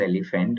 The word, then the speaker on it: EleFant: It's a very simple pronunciation as elephant only, just like what एलिफेंट you only.